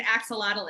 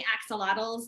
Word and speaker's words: axolotl: plant love it okay megan's asking what an axolotl is that's exactly how you spell it a-x-o-l-o-t-l and it's a salamander um so